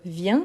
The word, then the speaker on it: vient: Donc, vient comme bien, donc c'est ce son-là, bien, donc bien, donc viens, viens, viens.